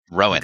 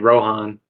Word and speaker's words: Rohan: off with uh Rowan the H is silent in his name oh so it's Rowen it's not Rin yeah Rohan Rowen okay I wanted like Rohan like R be great